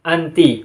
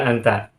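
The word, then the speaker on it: أنتِ: Karena mudirotun mu'annas, berarti domirnya sebelumnya itu adalah anti, bukan anta.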